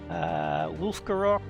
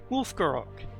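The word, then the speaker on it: Wulfgarok: of nisha wolf gerak the you sound there is from the German effectively because wolf is the German for wolf so that's clearly its inspiration so wolf grow up rather than well for you to sounds wrong wolf gerak Desmond's chosen gotta took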